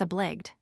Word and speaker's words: obliged: 206 obliged. Note the old-fashioned pronunciation to rhyme with besieged.